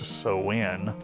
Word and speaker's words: Samhain: They're all put out by, it's spelled Samhain, it's pronounced Sowin Publishing.